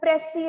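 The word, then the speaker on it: précis: Then we have pressy writing. So beta note, S is silent, it is pressy.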